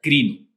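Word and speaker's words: κρίνω: cuando primero valemos juzgar juzgar viene de un vocablo griego que se pronuncia cream así como suena con karim o que significa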